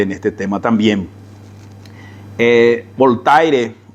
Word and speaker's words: Voltaire: este tema también eh voltaire o como como decimos en español voltier como se suele pronunciar decía de que yo puedo